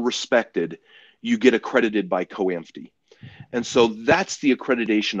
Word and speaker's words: COAMFTE: Um, for our specific program, a marriage and family therapy program, there is an organization called COAMFTE, is how it's pronounced, but COAMFTE.